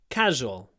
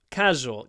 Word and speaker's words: casual: wearing a casual shirt casual casual it's more or less two syllables it's like two two and a quarter syllables casual casual casual shirt